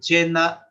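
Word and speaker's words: coena: La misa de Jueves Santo, in cena Domini, in cena, C-O-E-N-A. Entonces, O-E como E, in cena.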